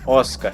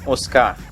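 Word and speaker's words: Oscar: que sofre vendo aqui correto de acordo com o pdf no cacém 12 é óscar e não os carros e agora vamos para mais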